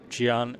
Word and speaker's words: Gian: And Gian is kind of pronounced semi- similar to your name, John, but written in a totally different way.